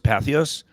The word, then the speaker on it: Patheos: Back then, because you had is it pronounced Patheos?